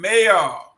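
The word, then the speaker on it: Mbayoh: Let me go to uh sir Augustine Mayor. I love that name. You know, that's a beautiful name. M B A Y O H. The B is silent, so it's mayor.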